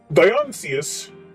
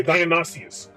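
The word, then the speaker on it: Dionysius: no more to me diancius I don't think I'm saying his name wrong Zion Zions okay Dionysus there we go Dionysus what's be him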